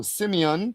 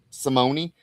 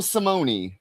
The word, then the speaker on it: Simone: Stefano Simeon did the art. Brian Cunningham, Simone. Oh, there you pronounce the E, huh? Stefano Simone.